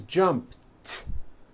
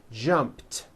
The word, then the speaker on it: jumped: t so jump becomes jumped with a t sound at the end jumped of course the word is spelled with an e d ending it's just pronounced as a t jumped like that the word